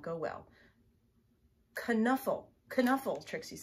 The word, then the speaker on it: Knuffle: Knuffle is what Trixie says, so I guess that's the right answer, but I always say Nuffle.